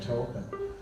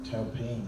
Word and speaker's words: Taupin: Because it's a French name, and apparently it's pronounced something like Taupin or something like that.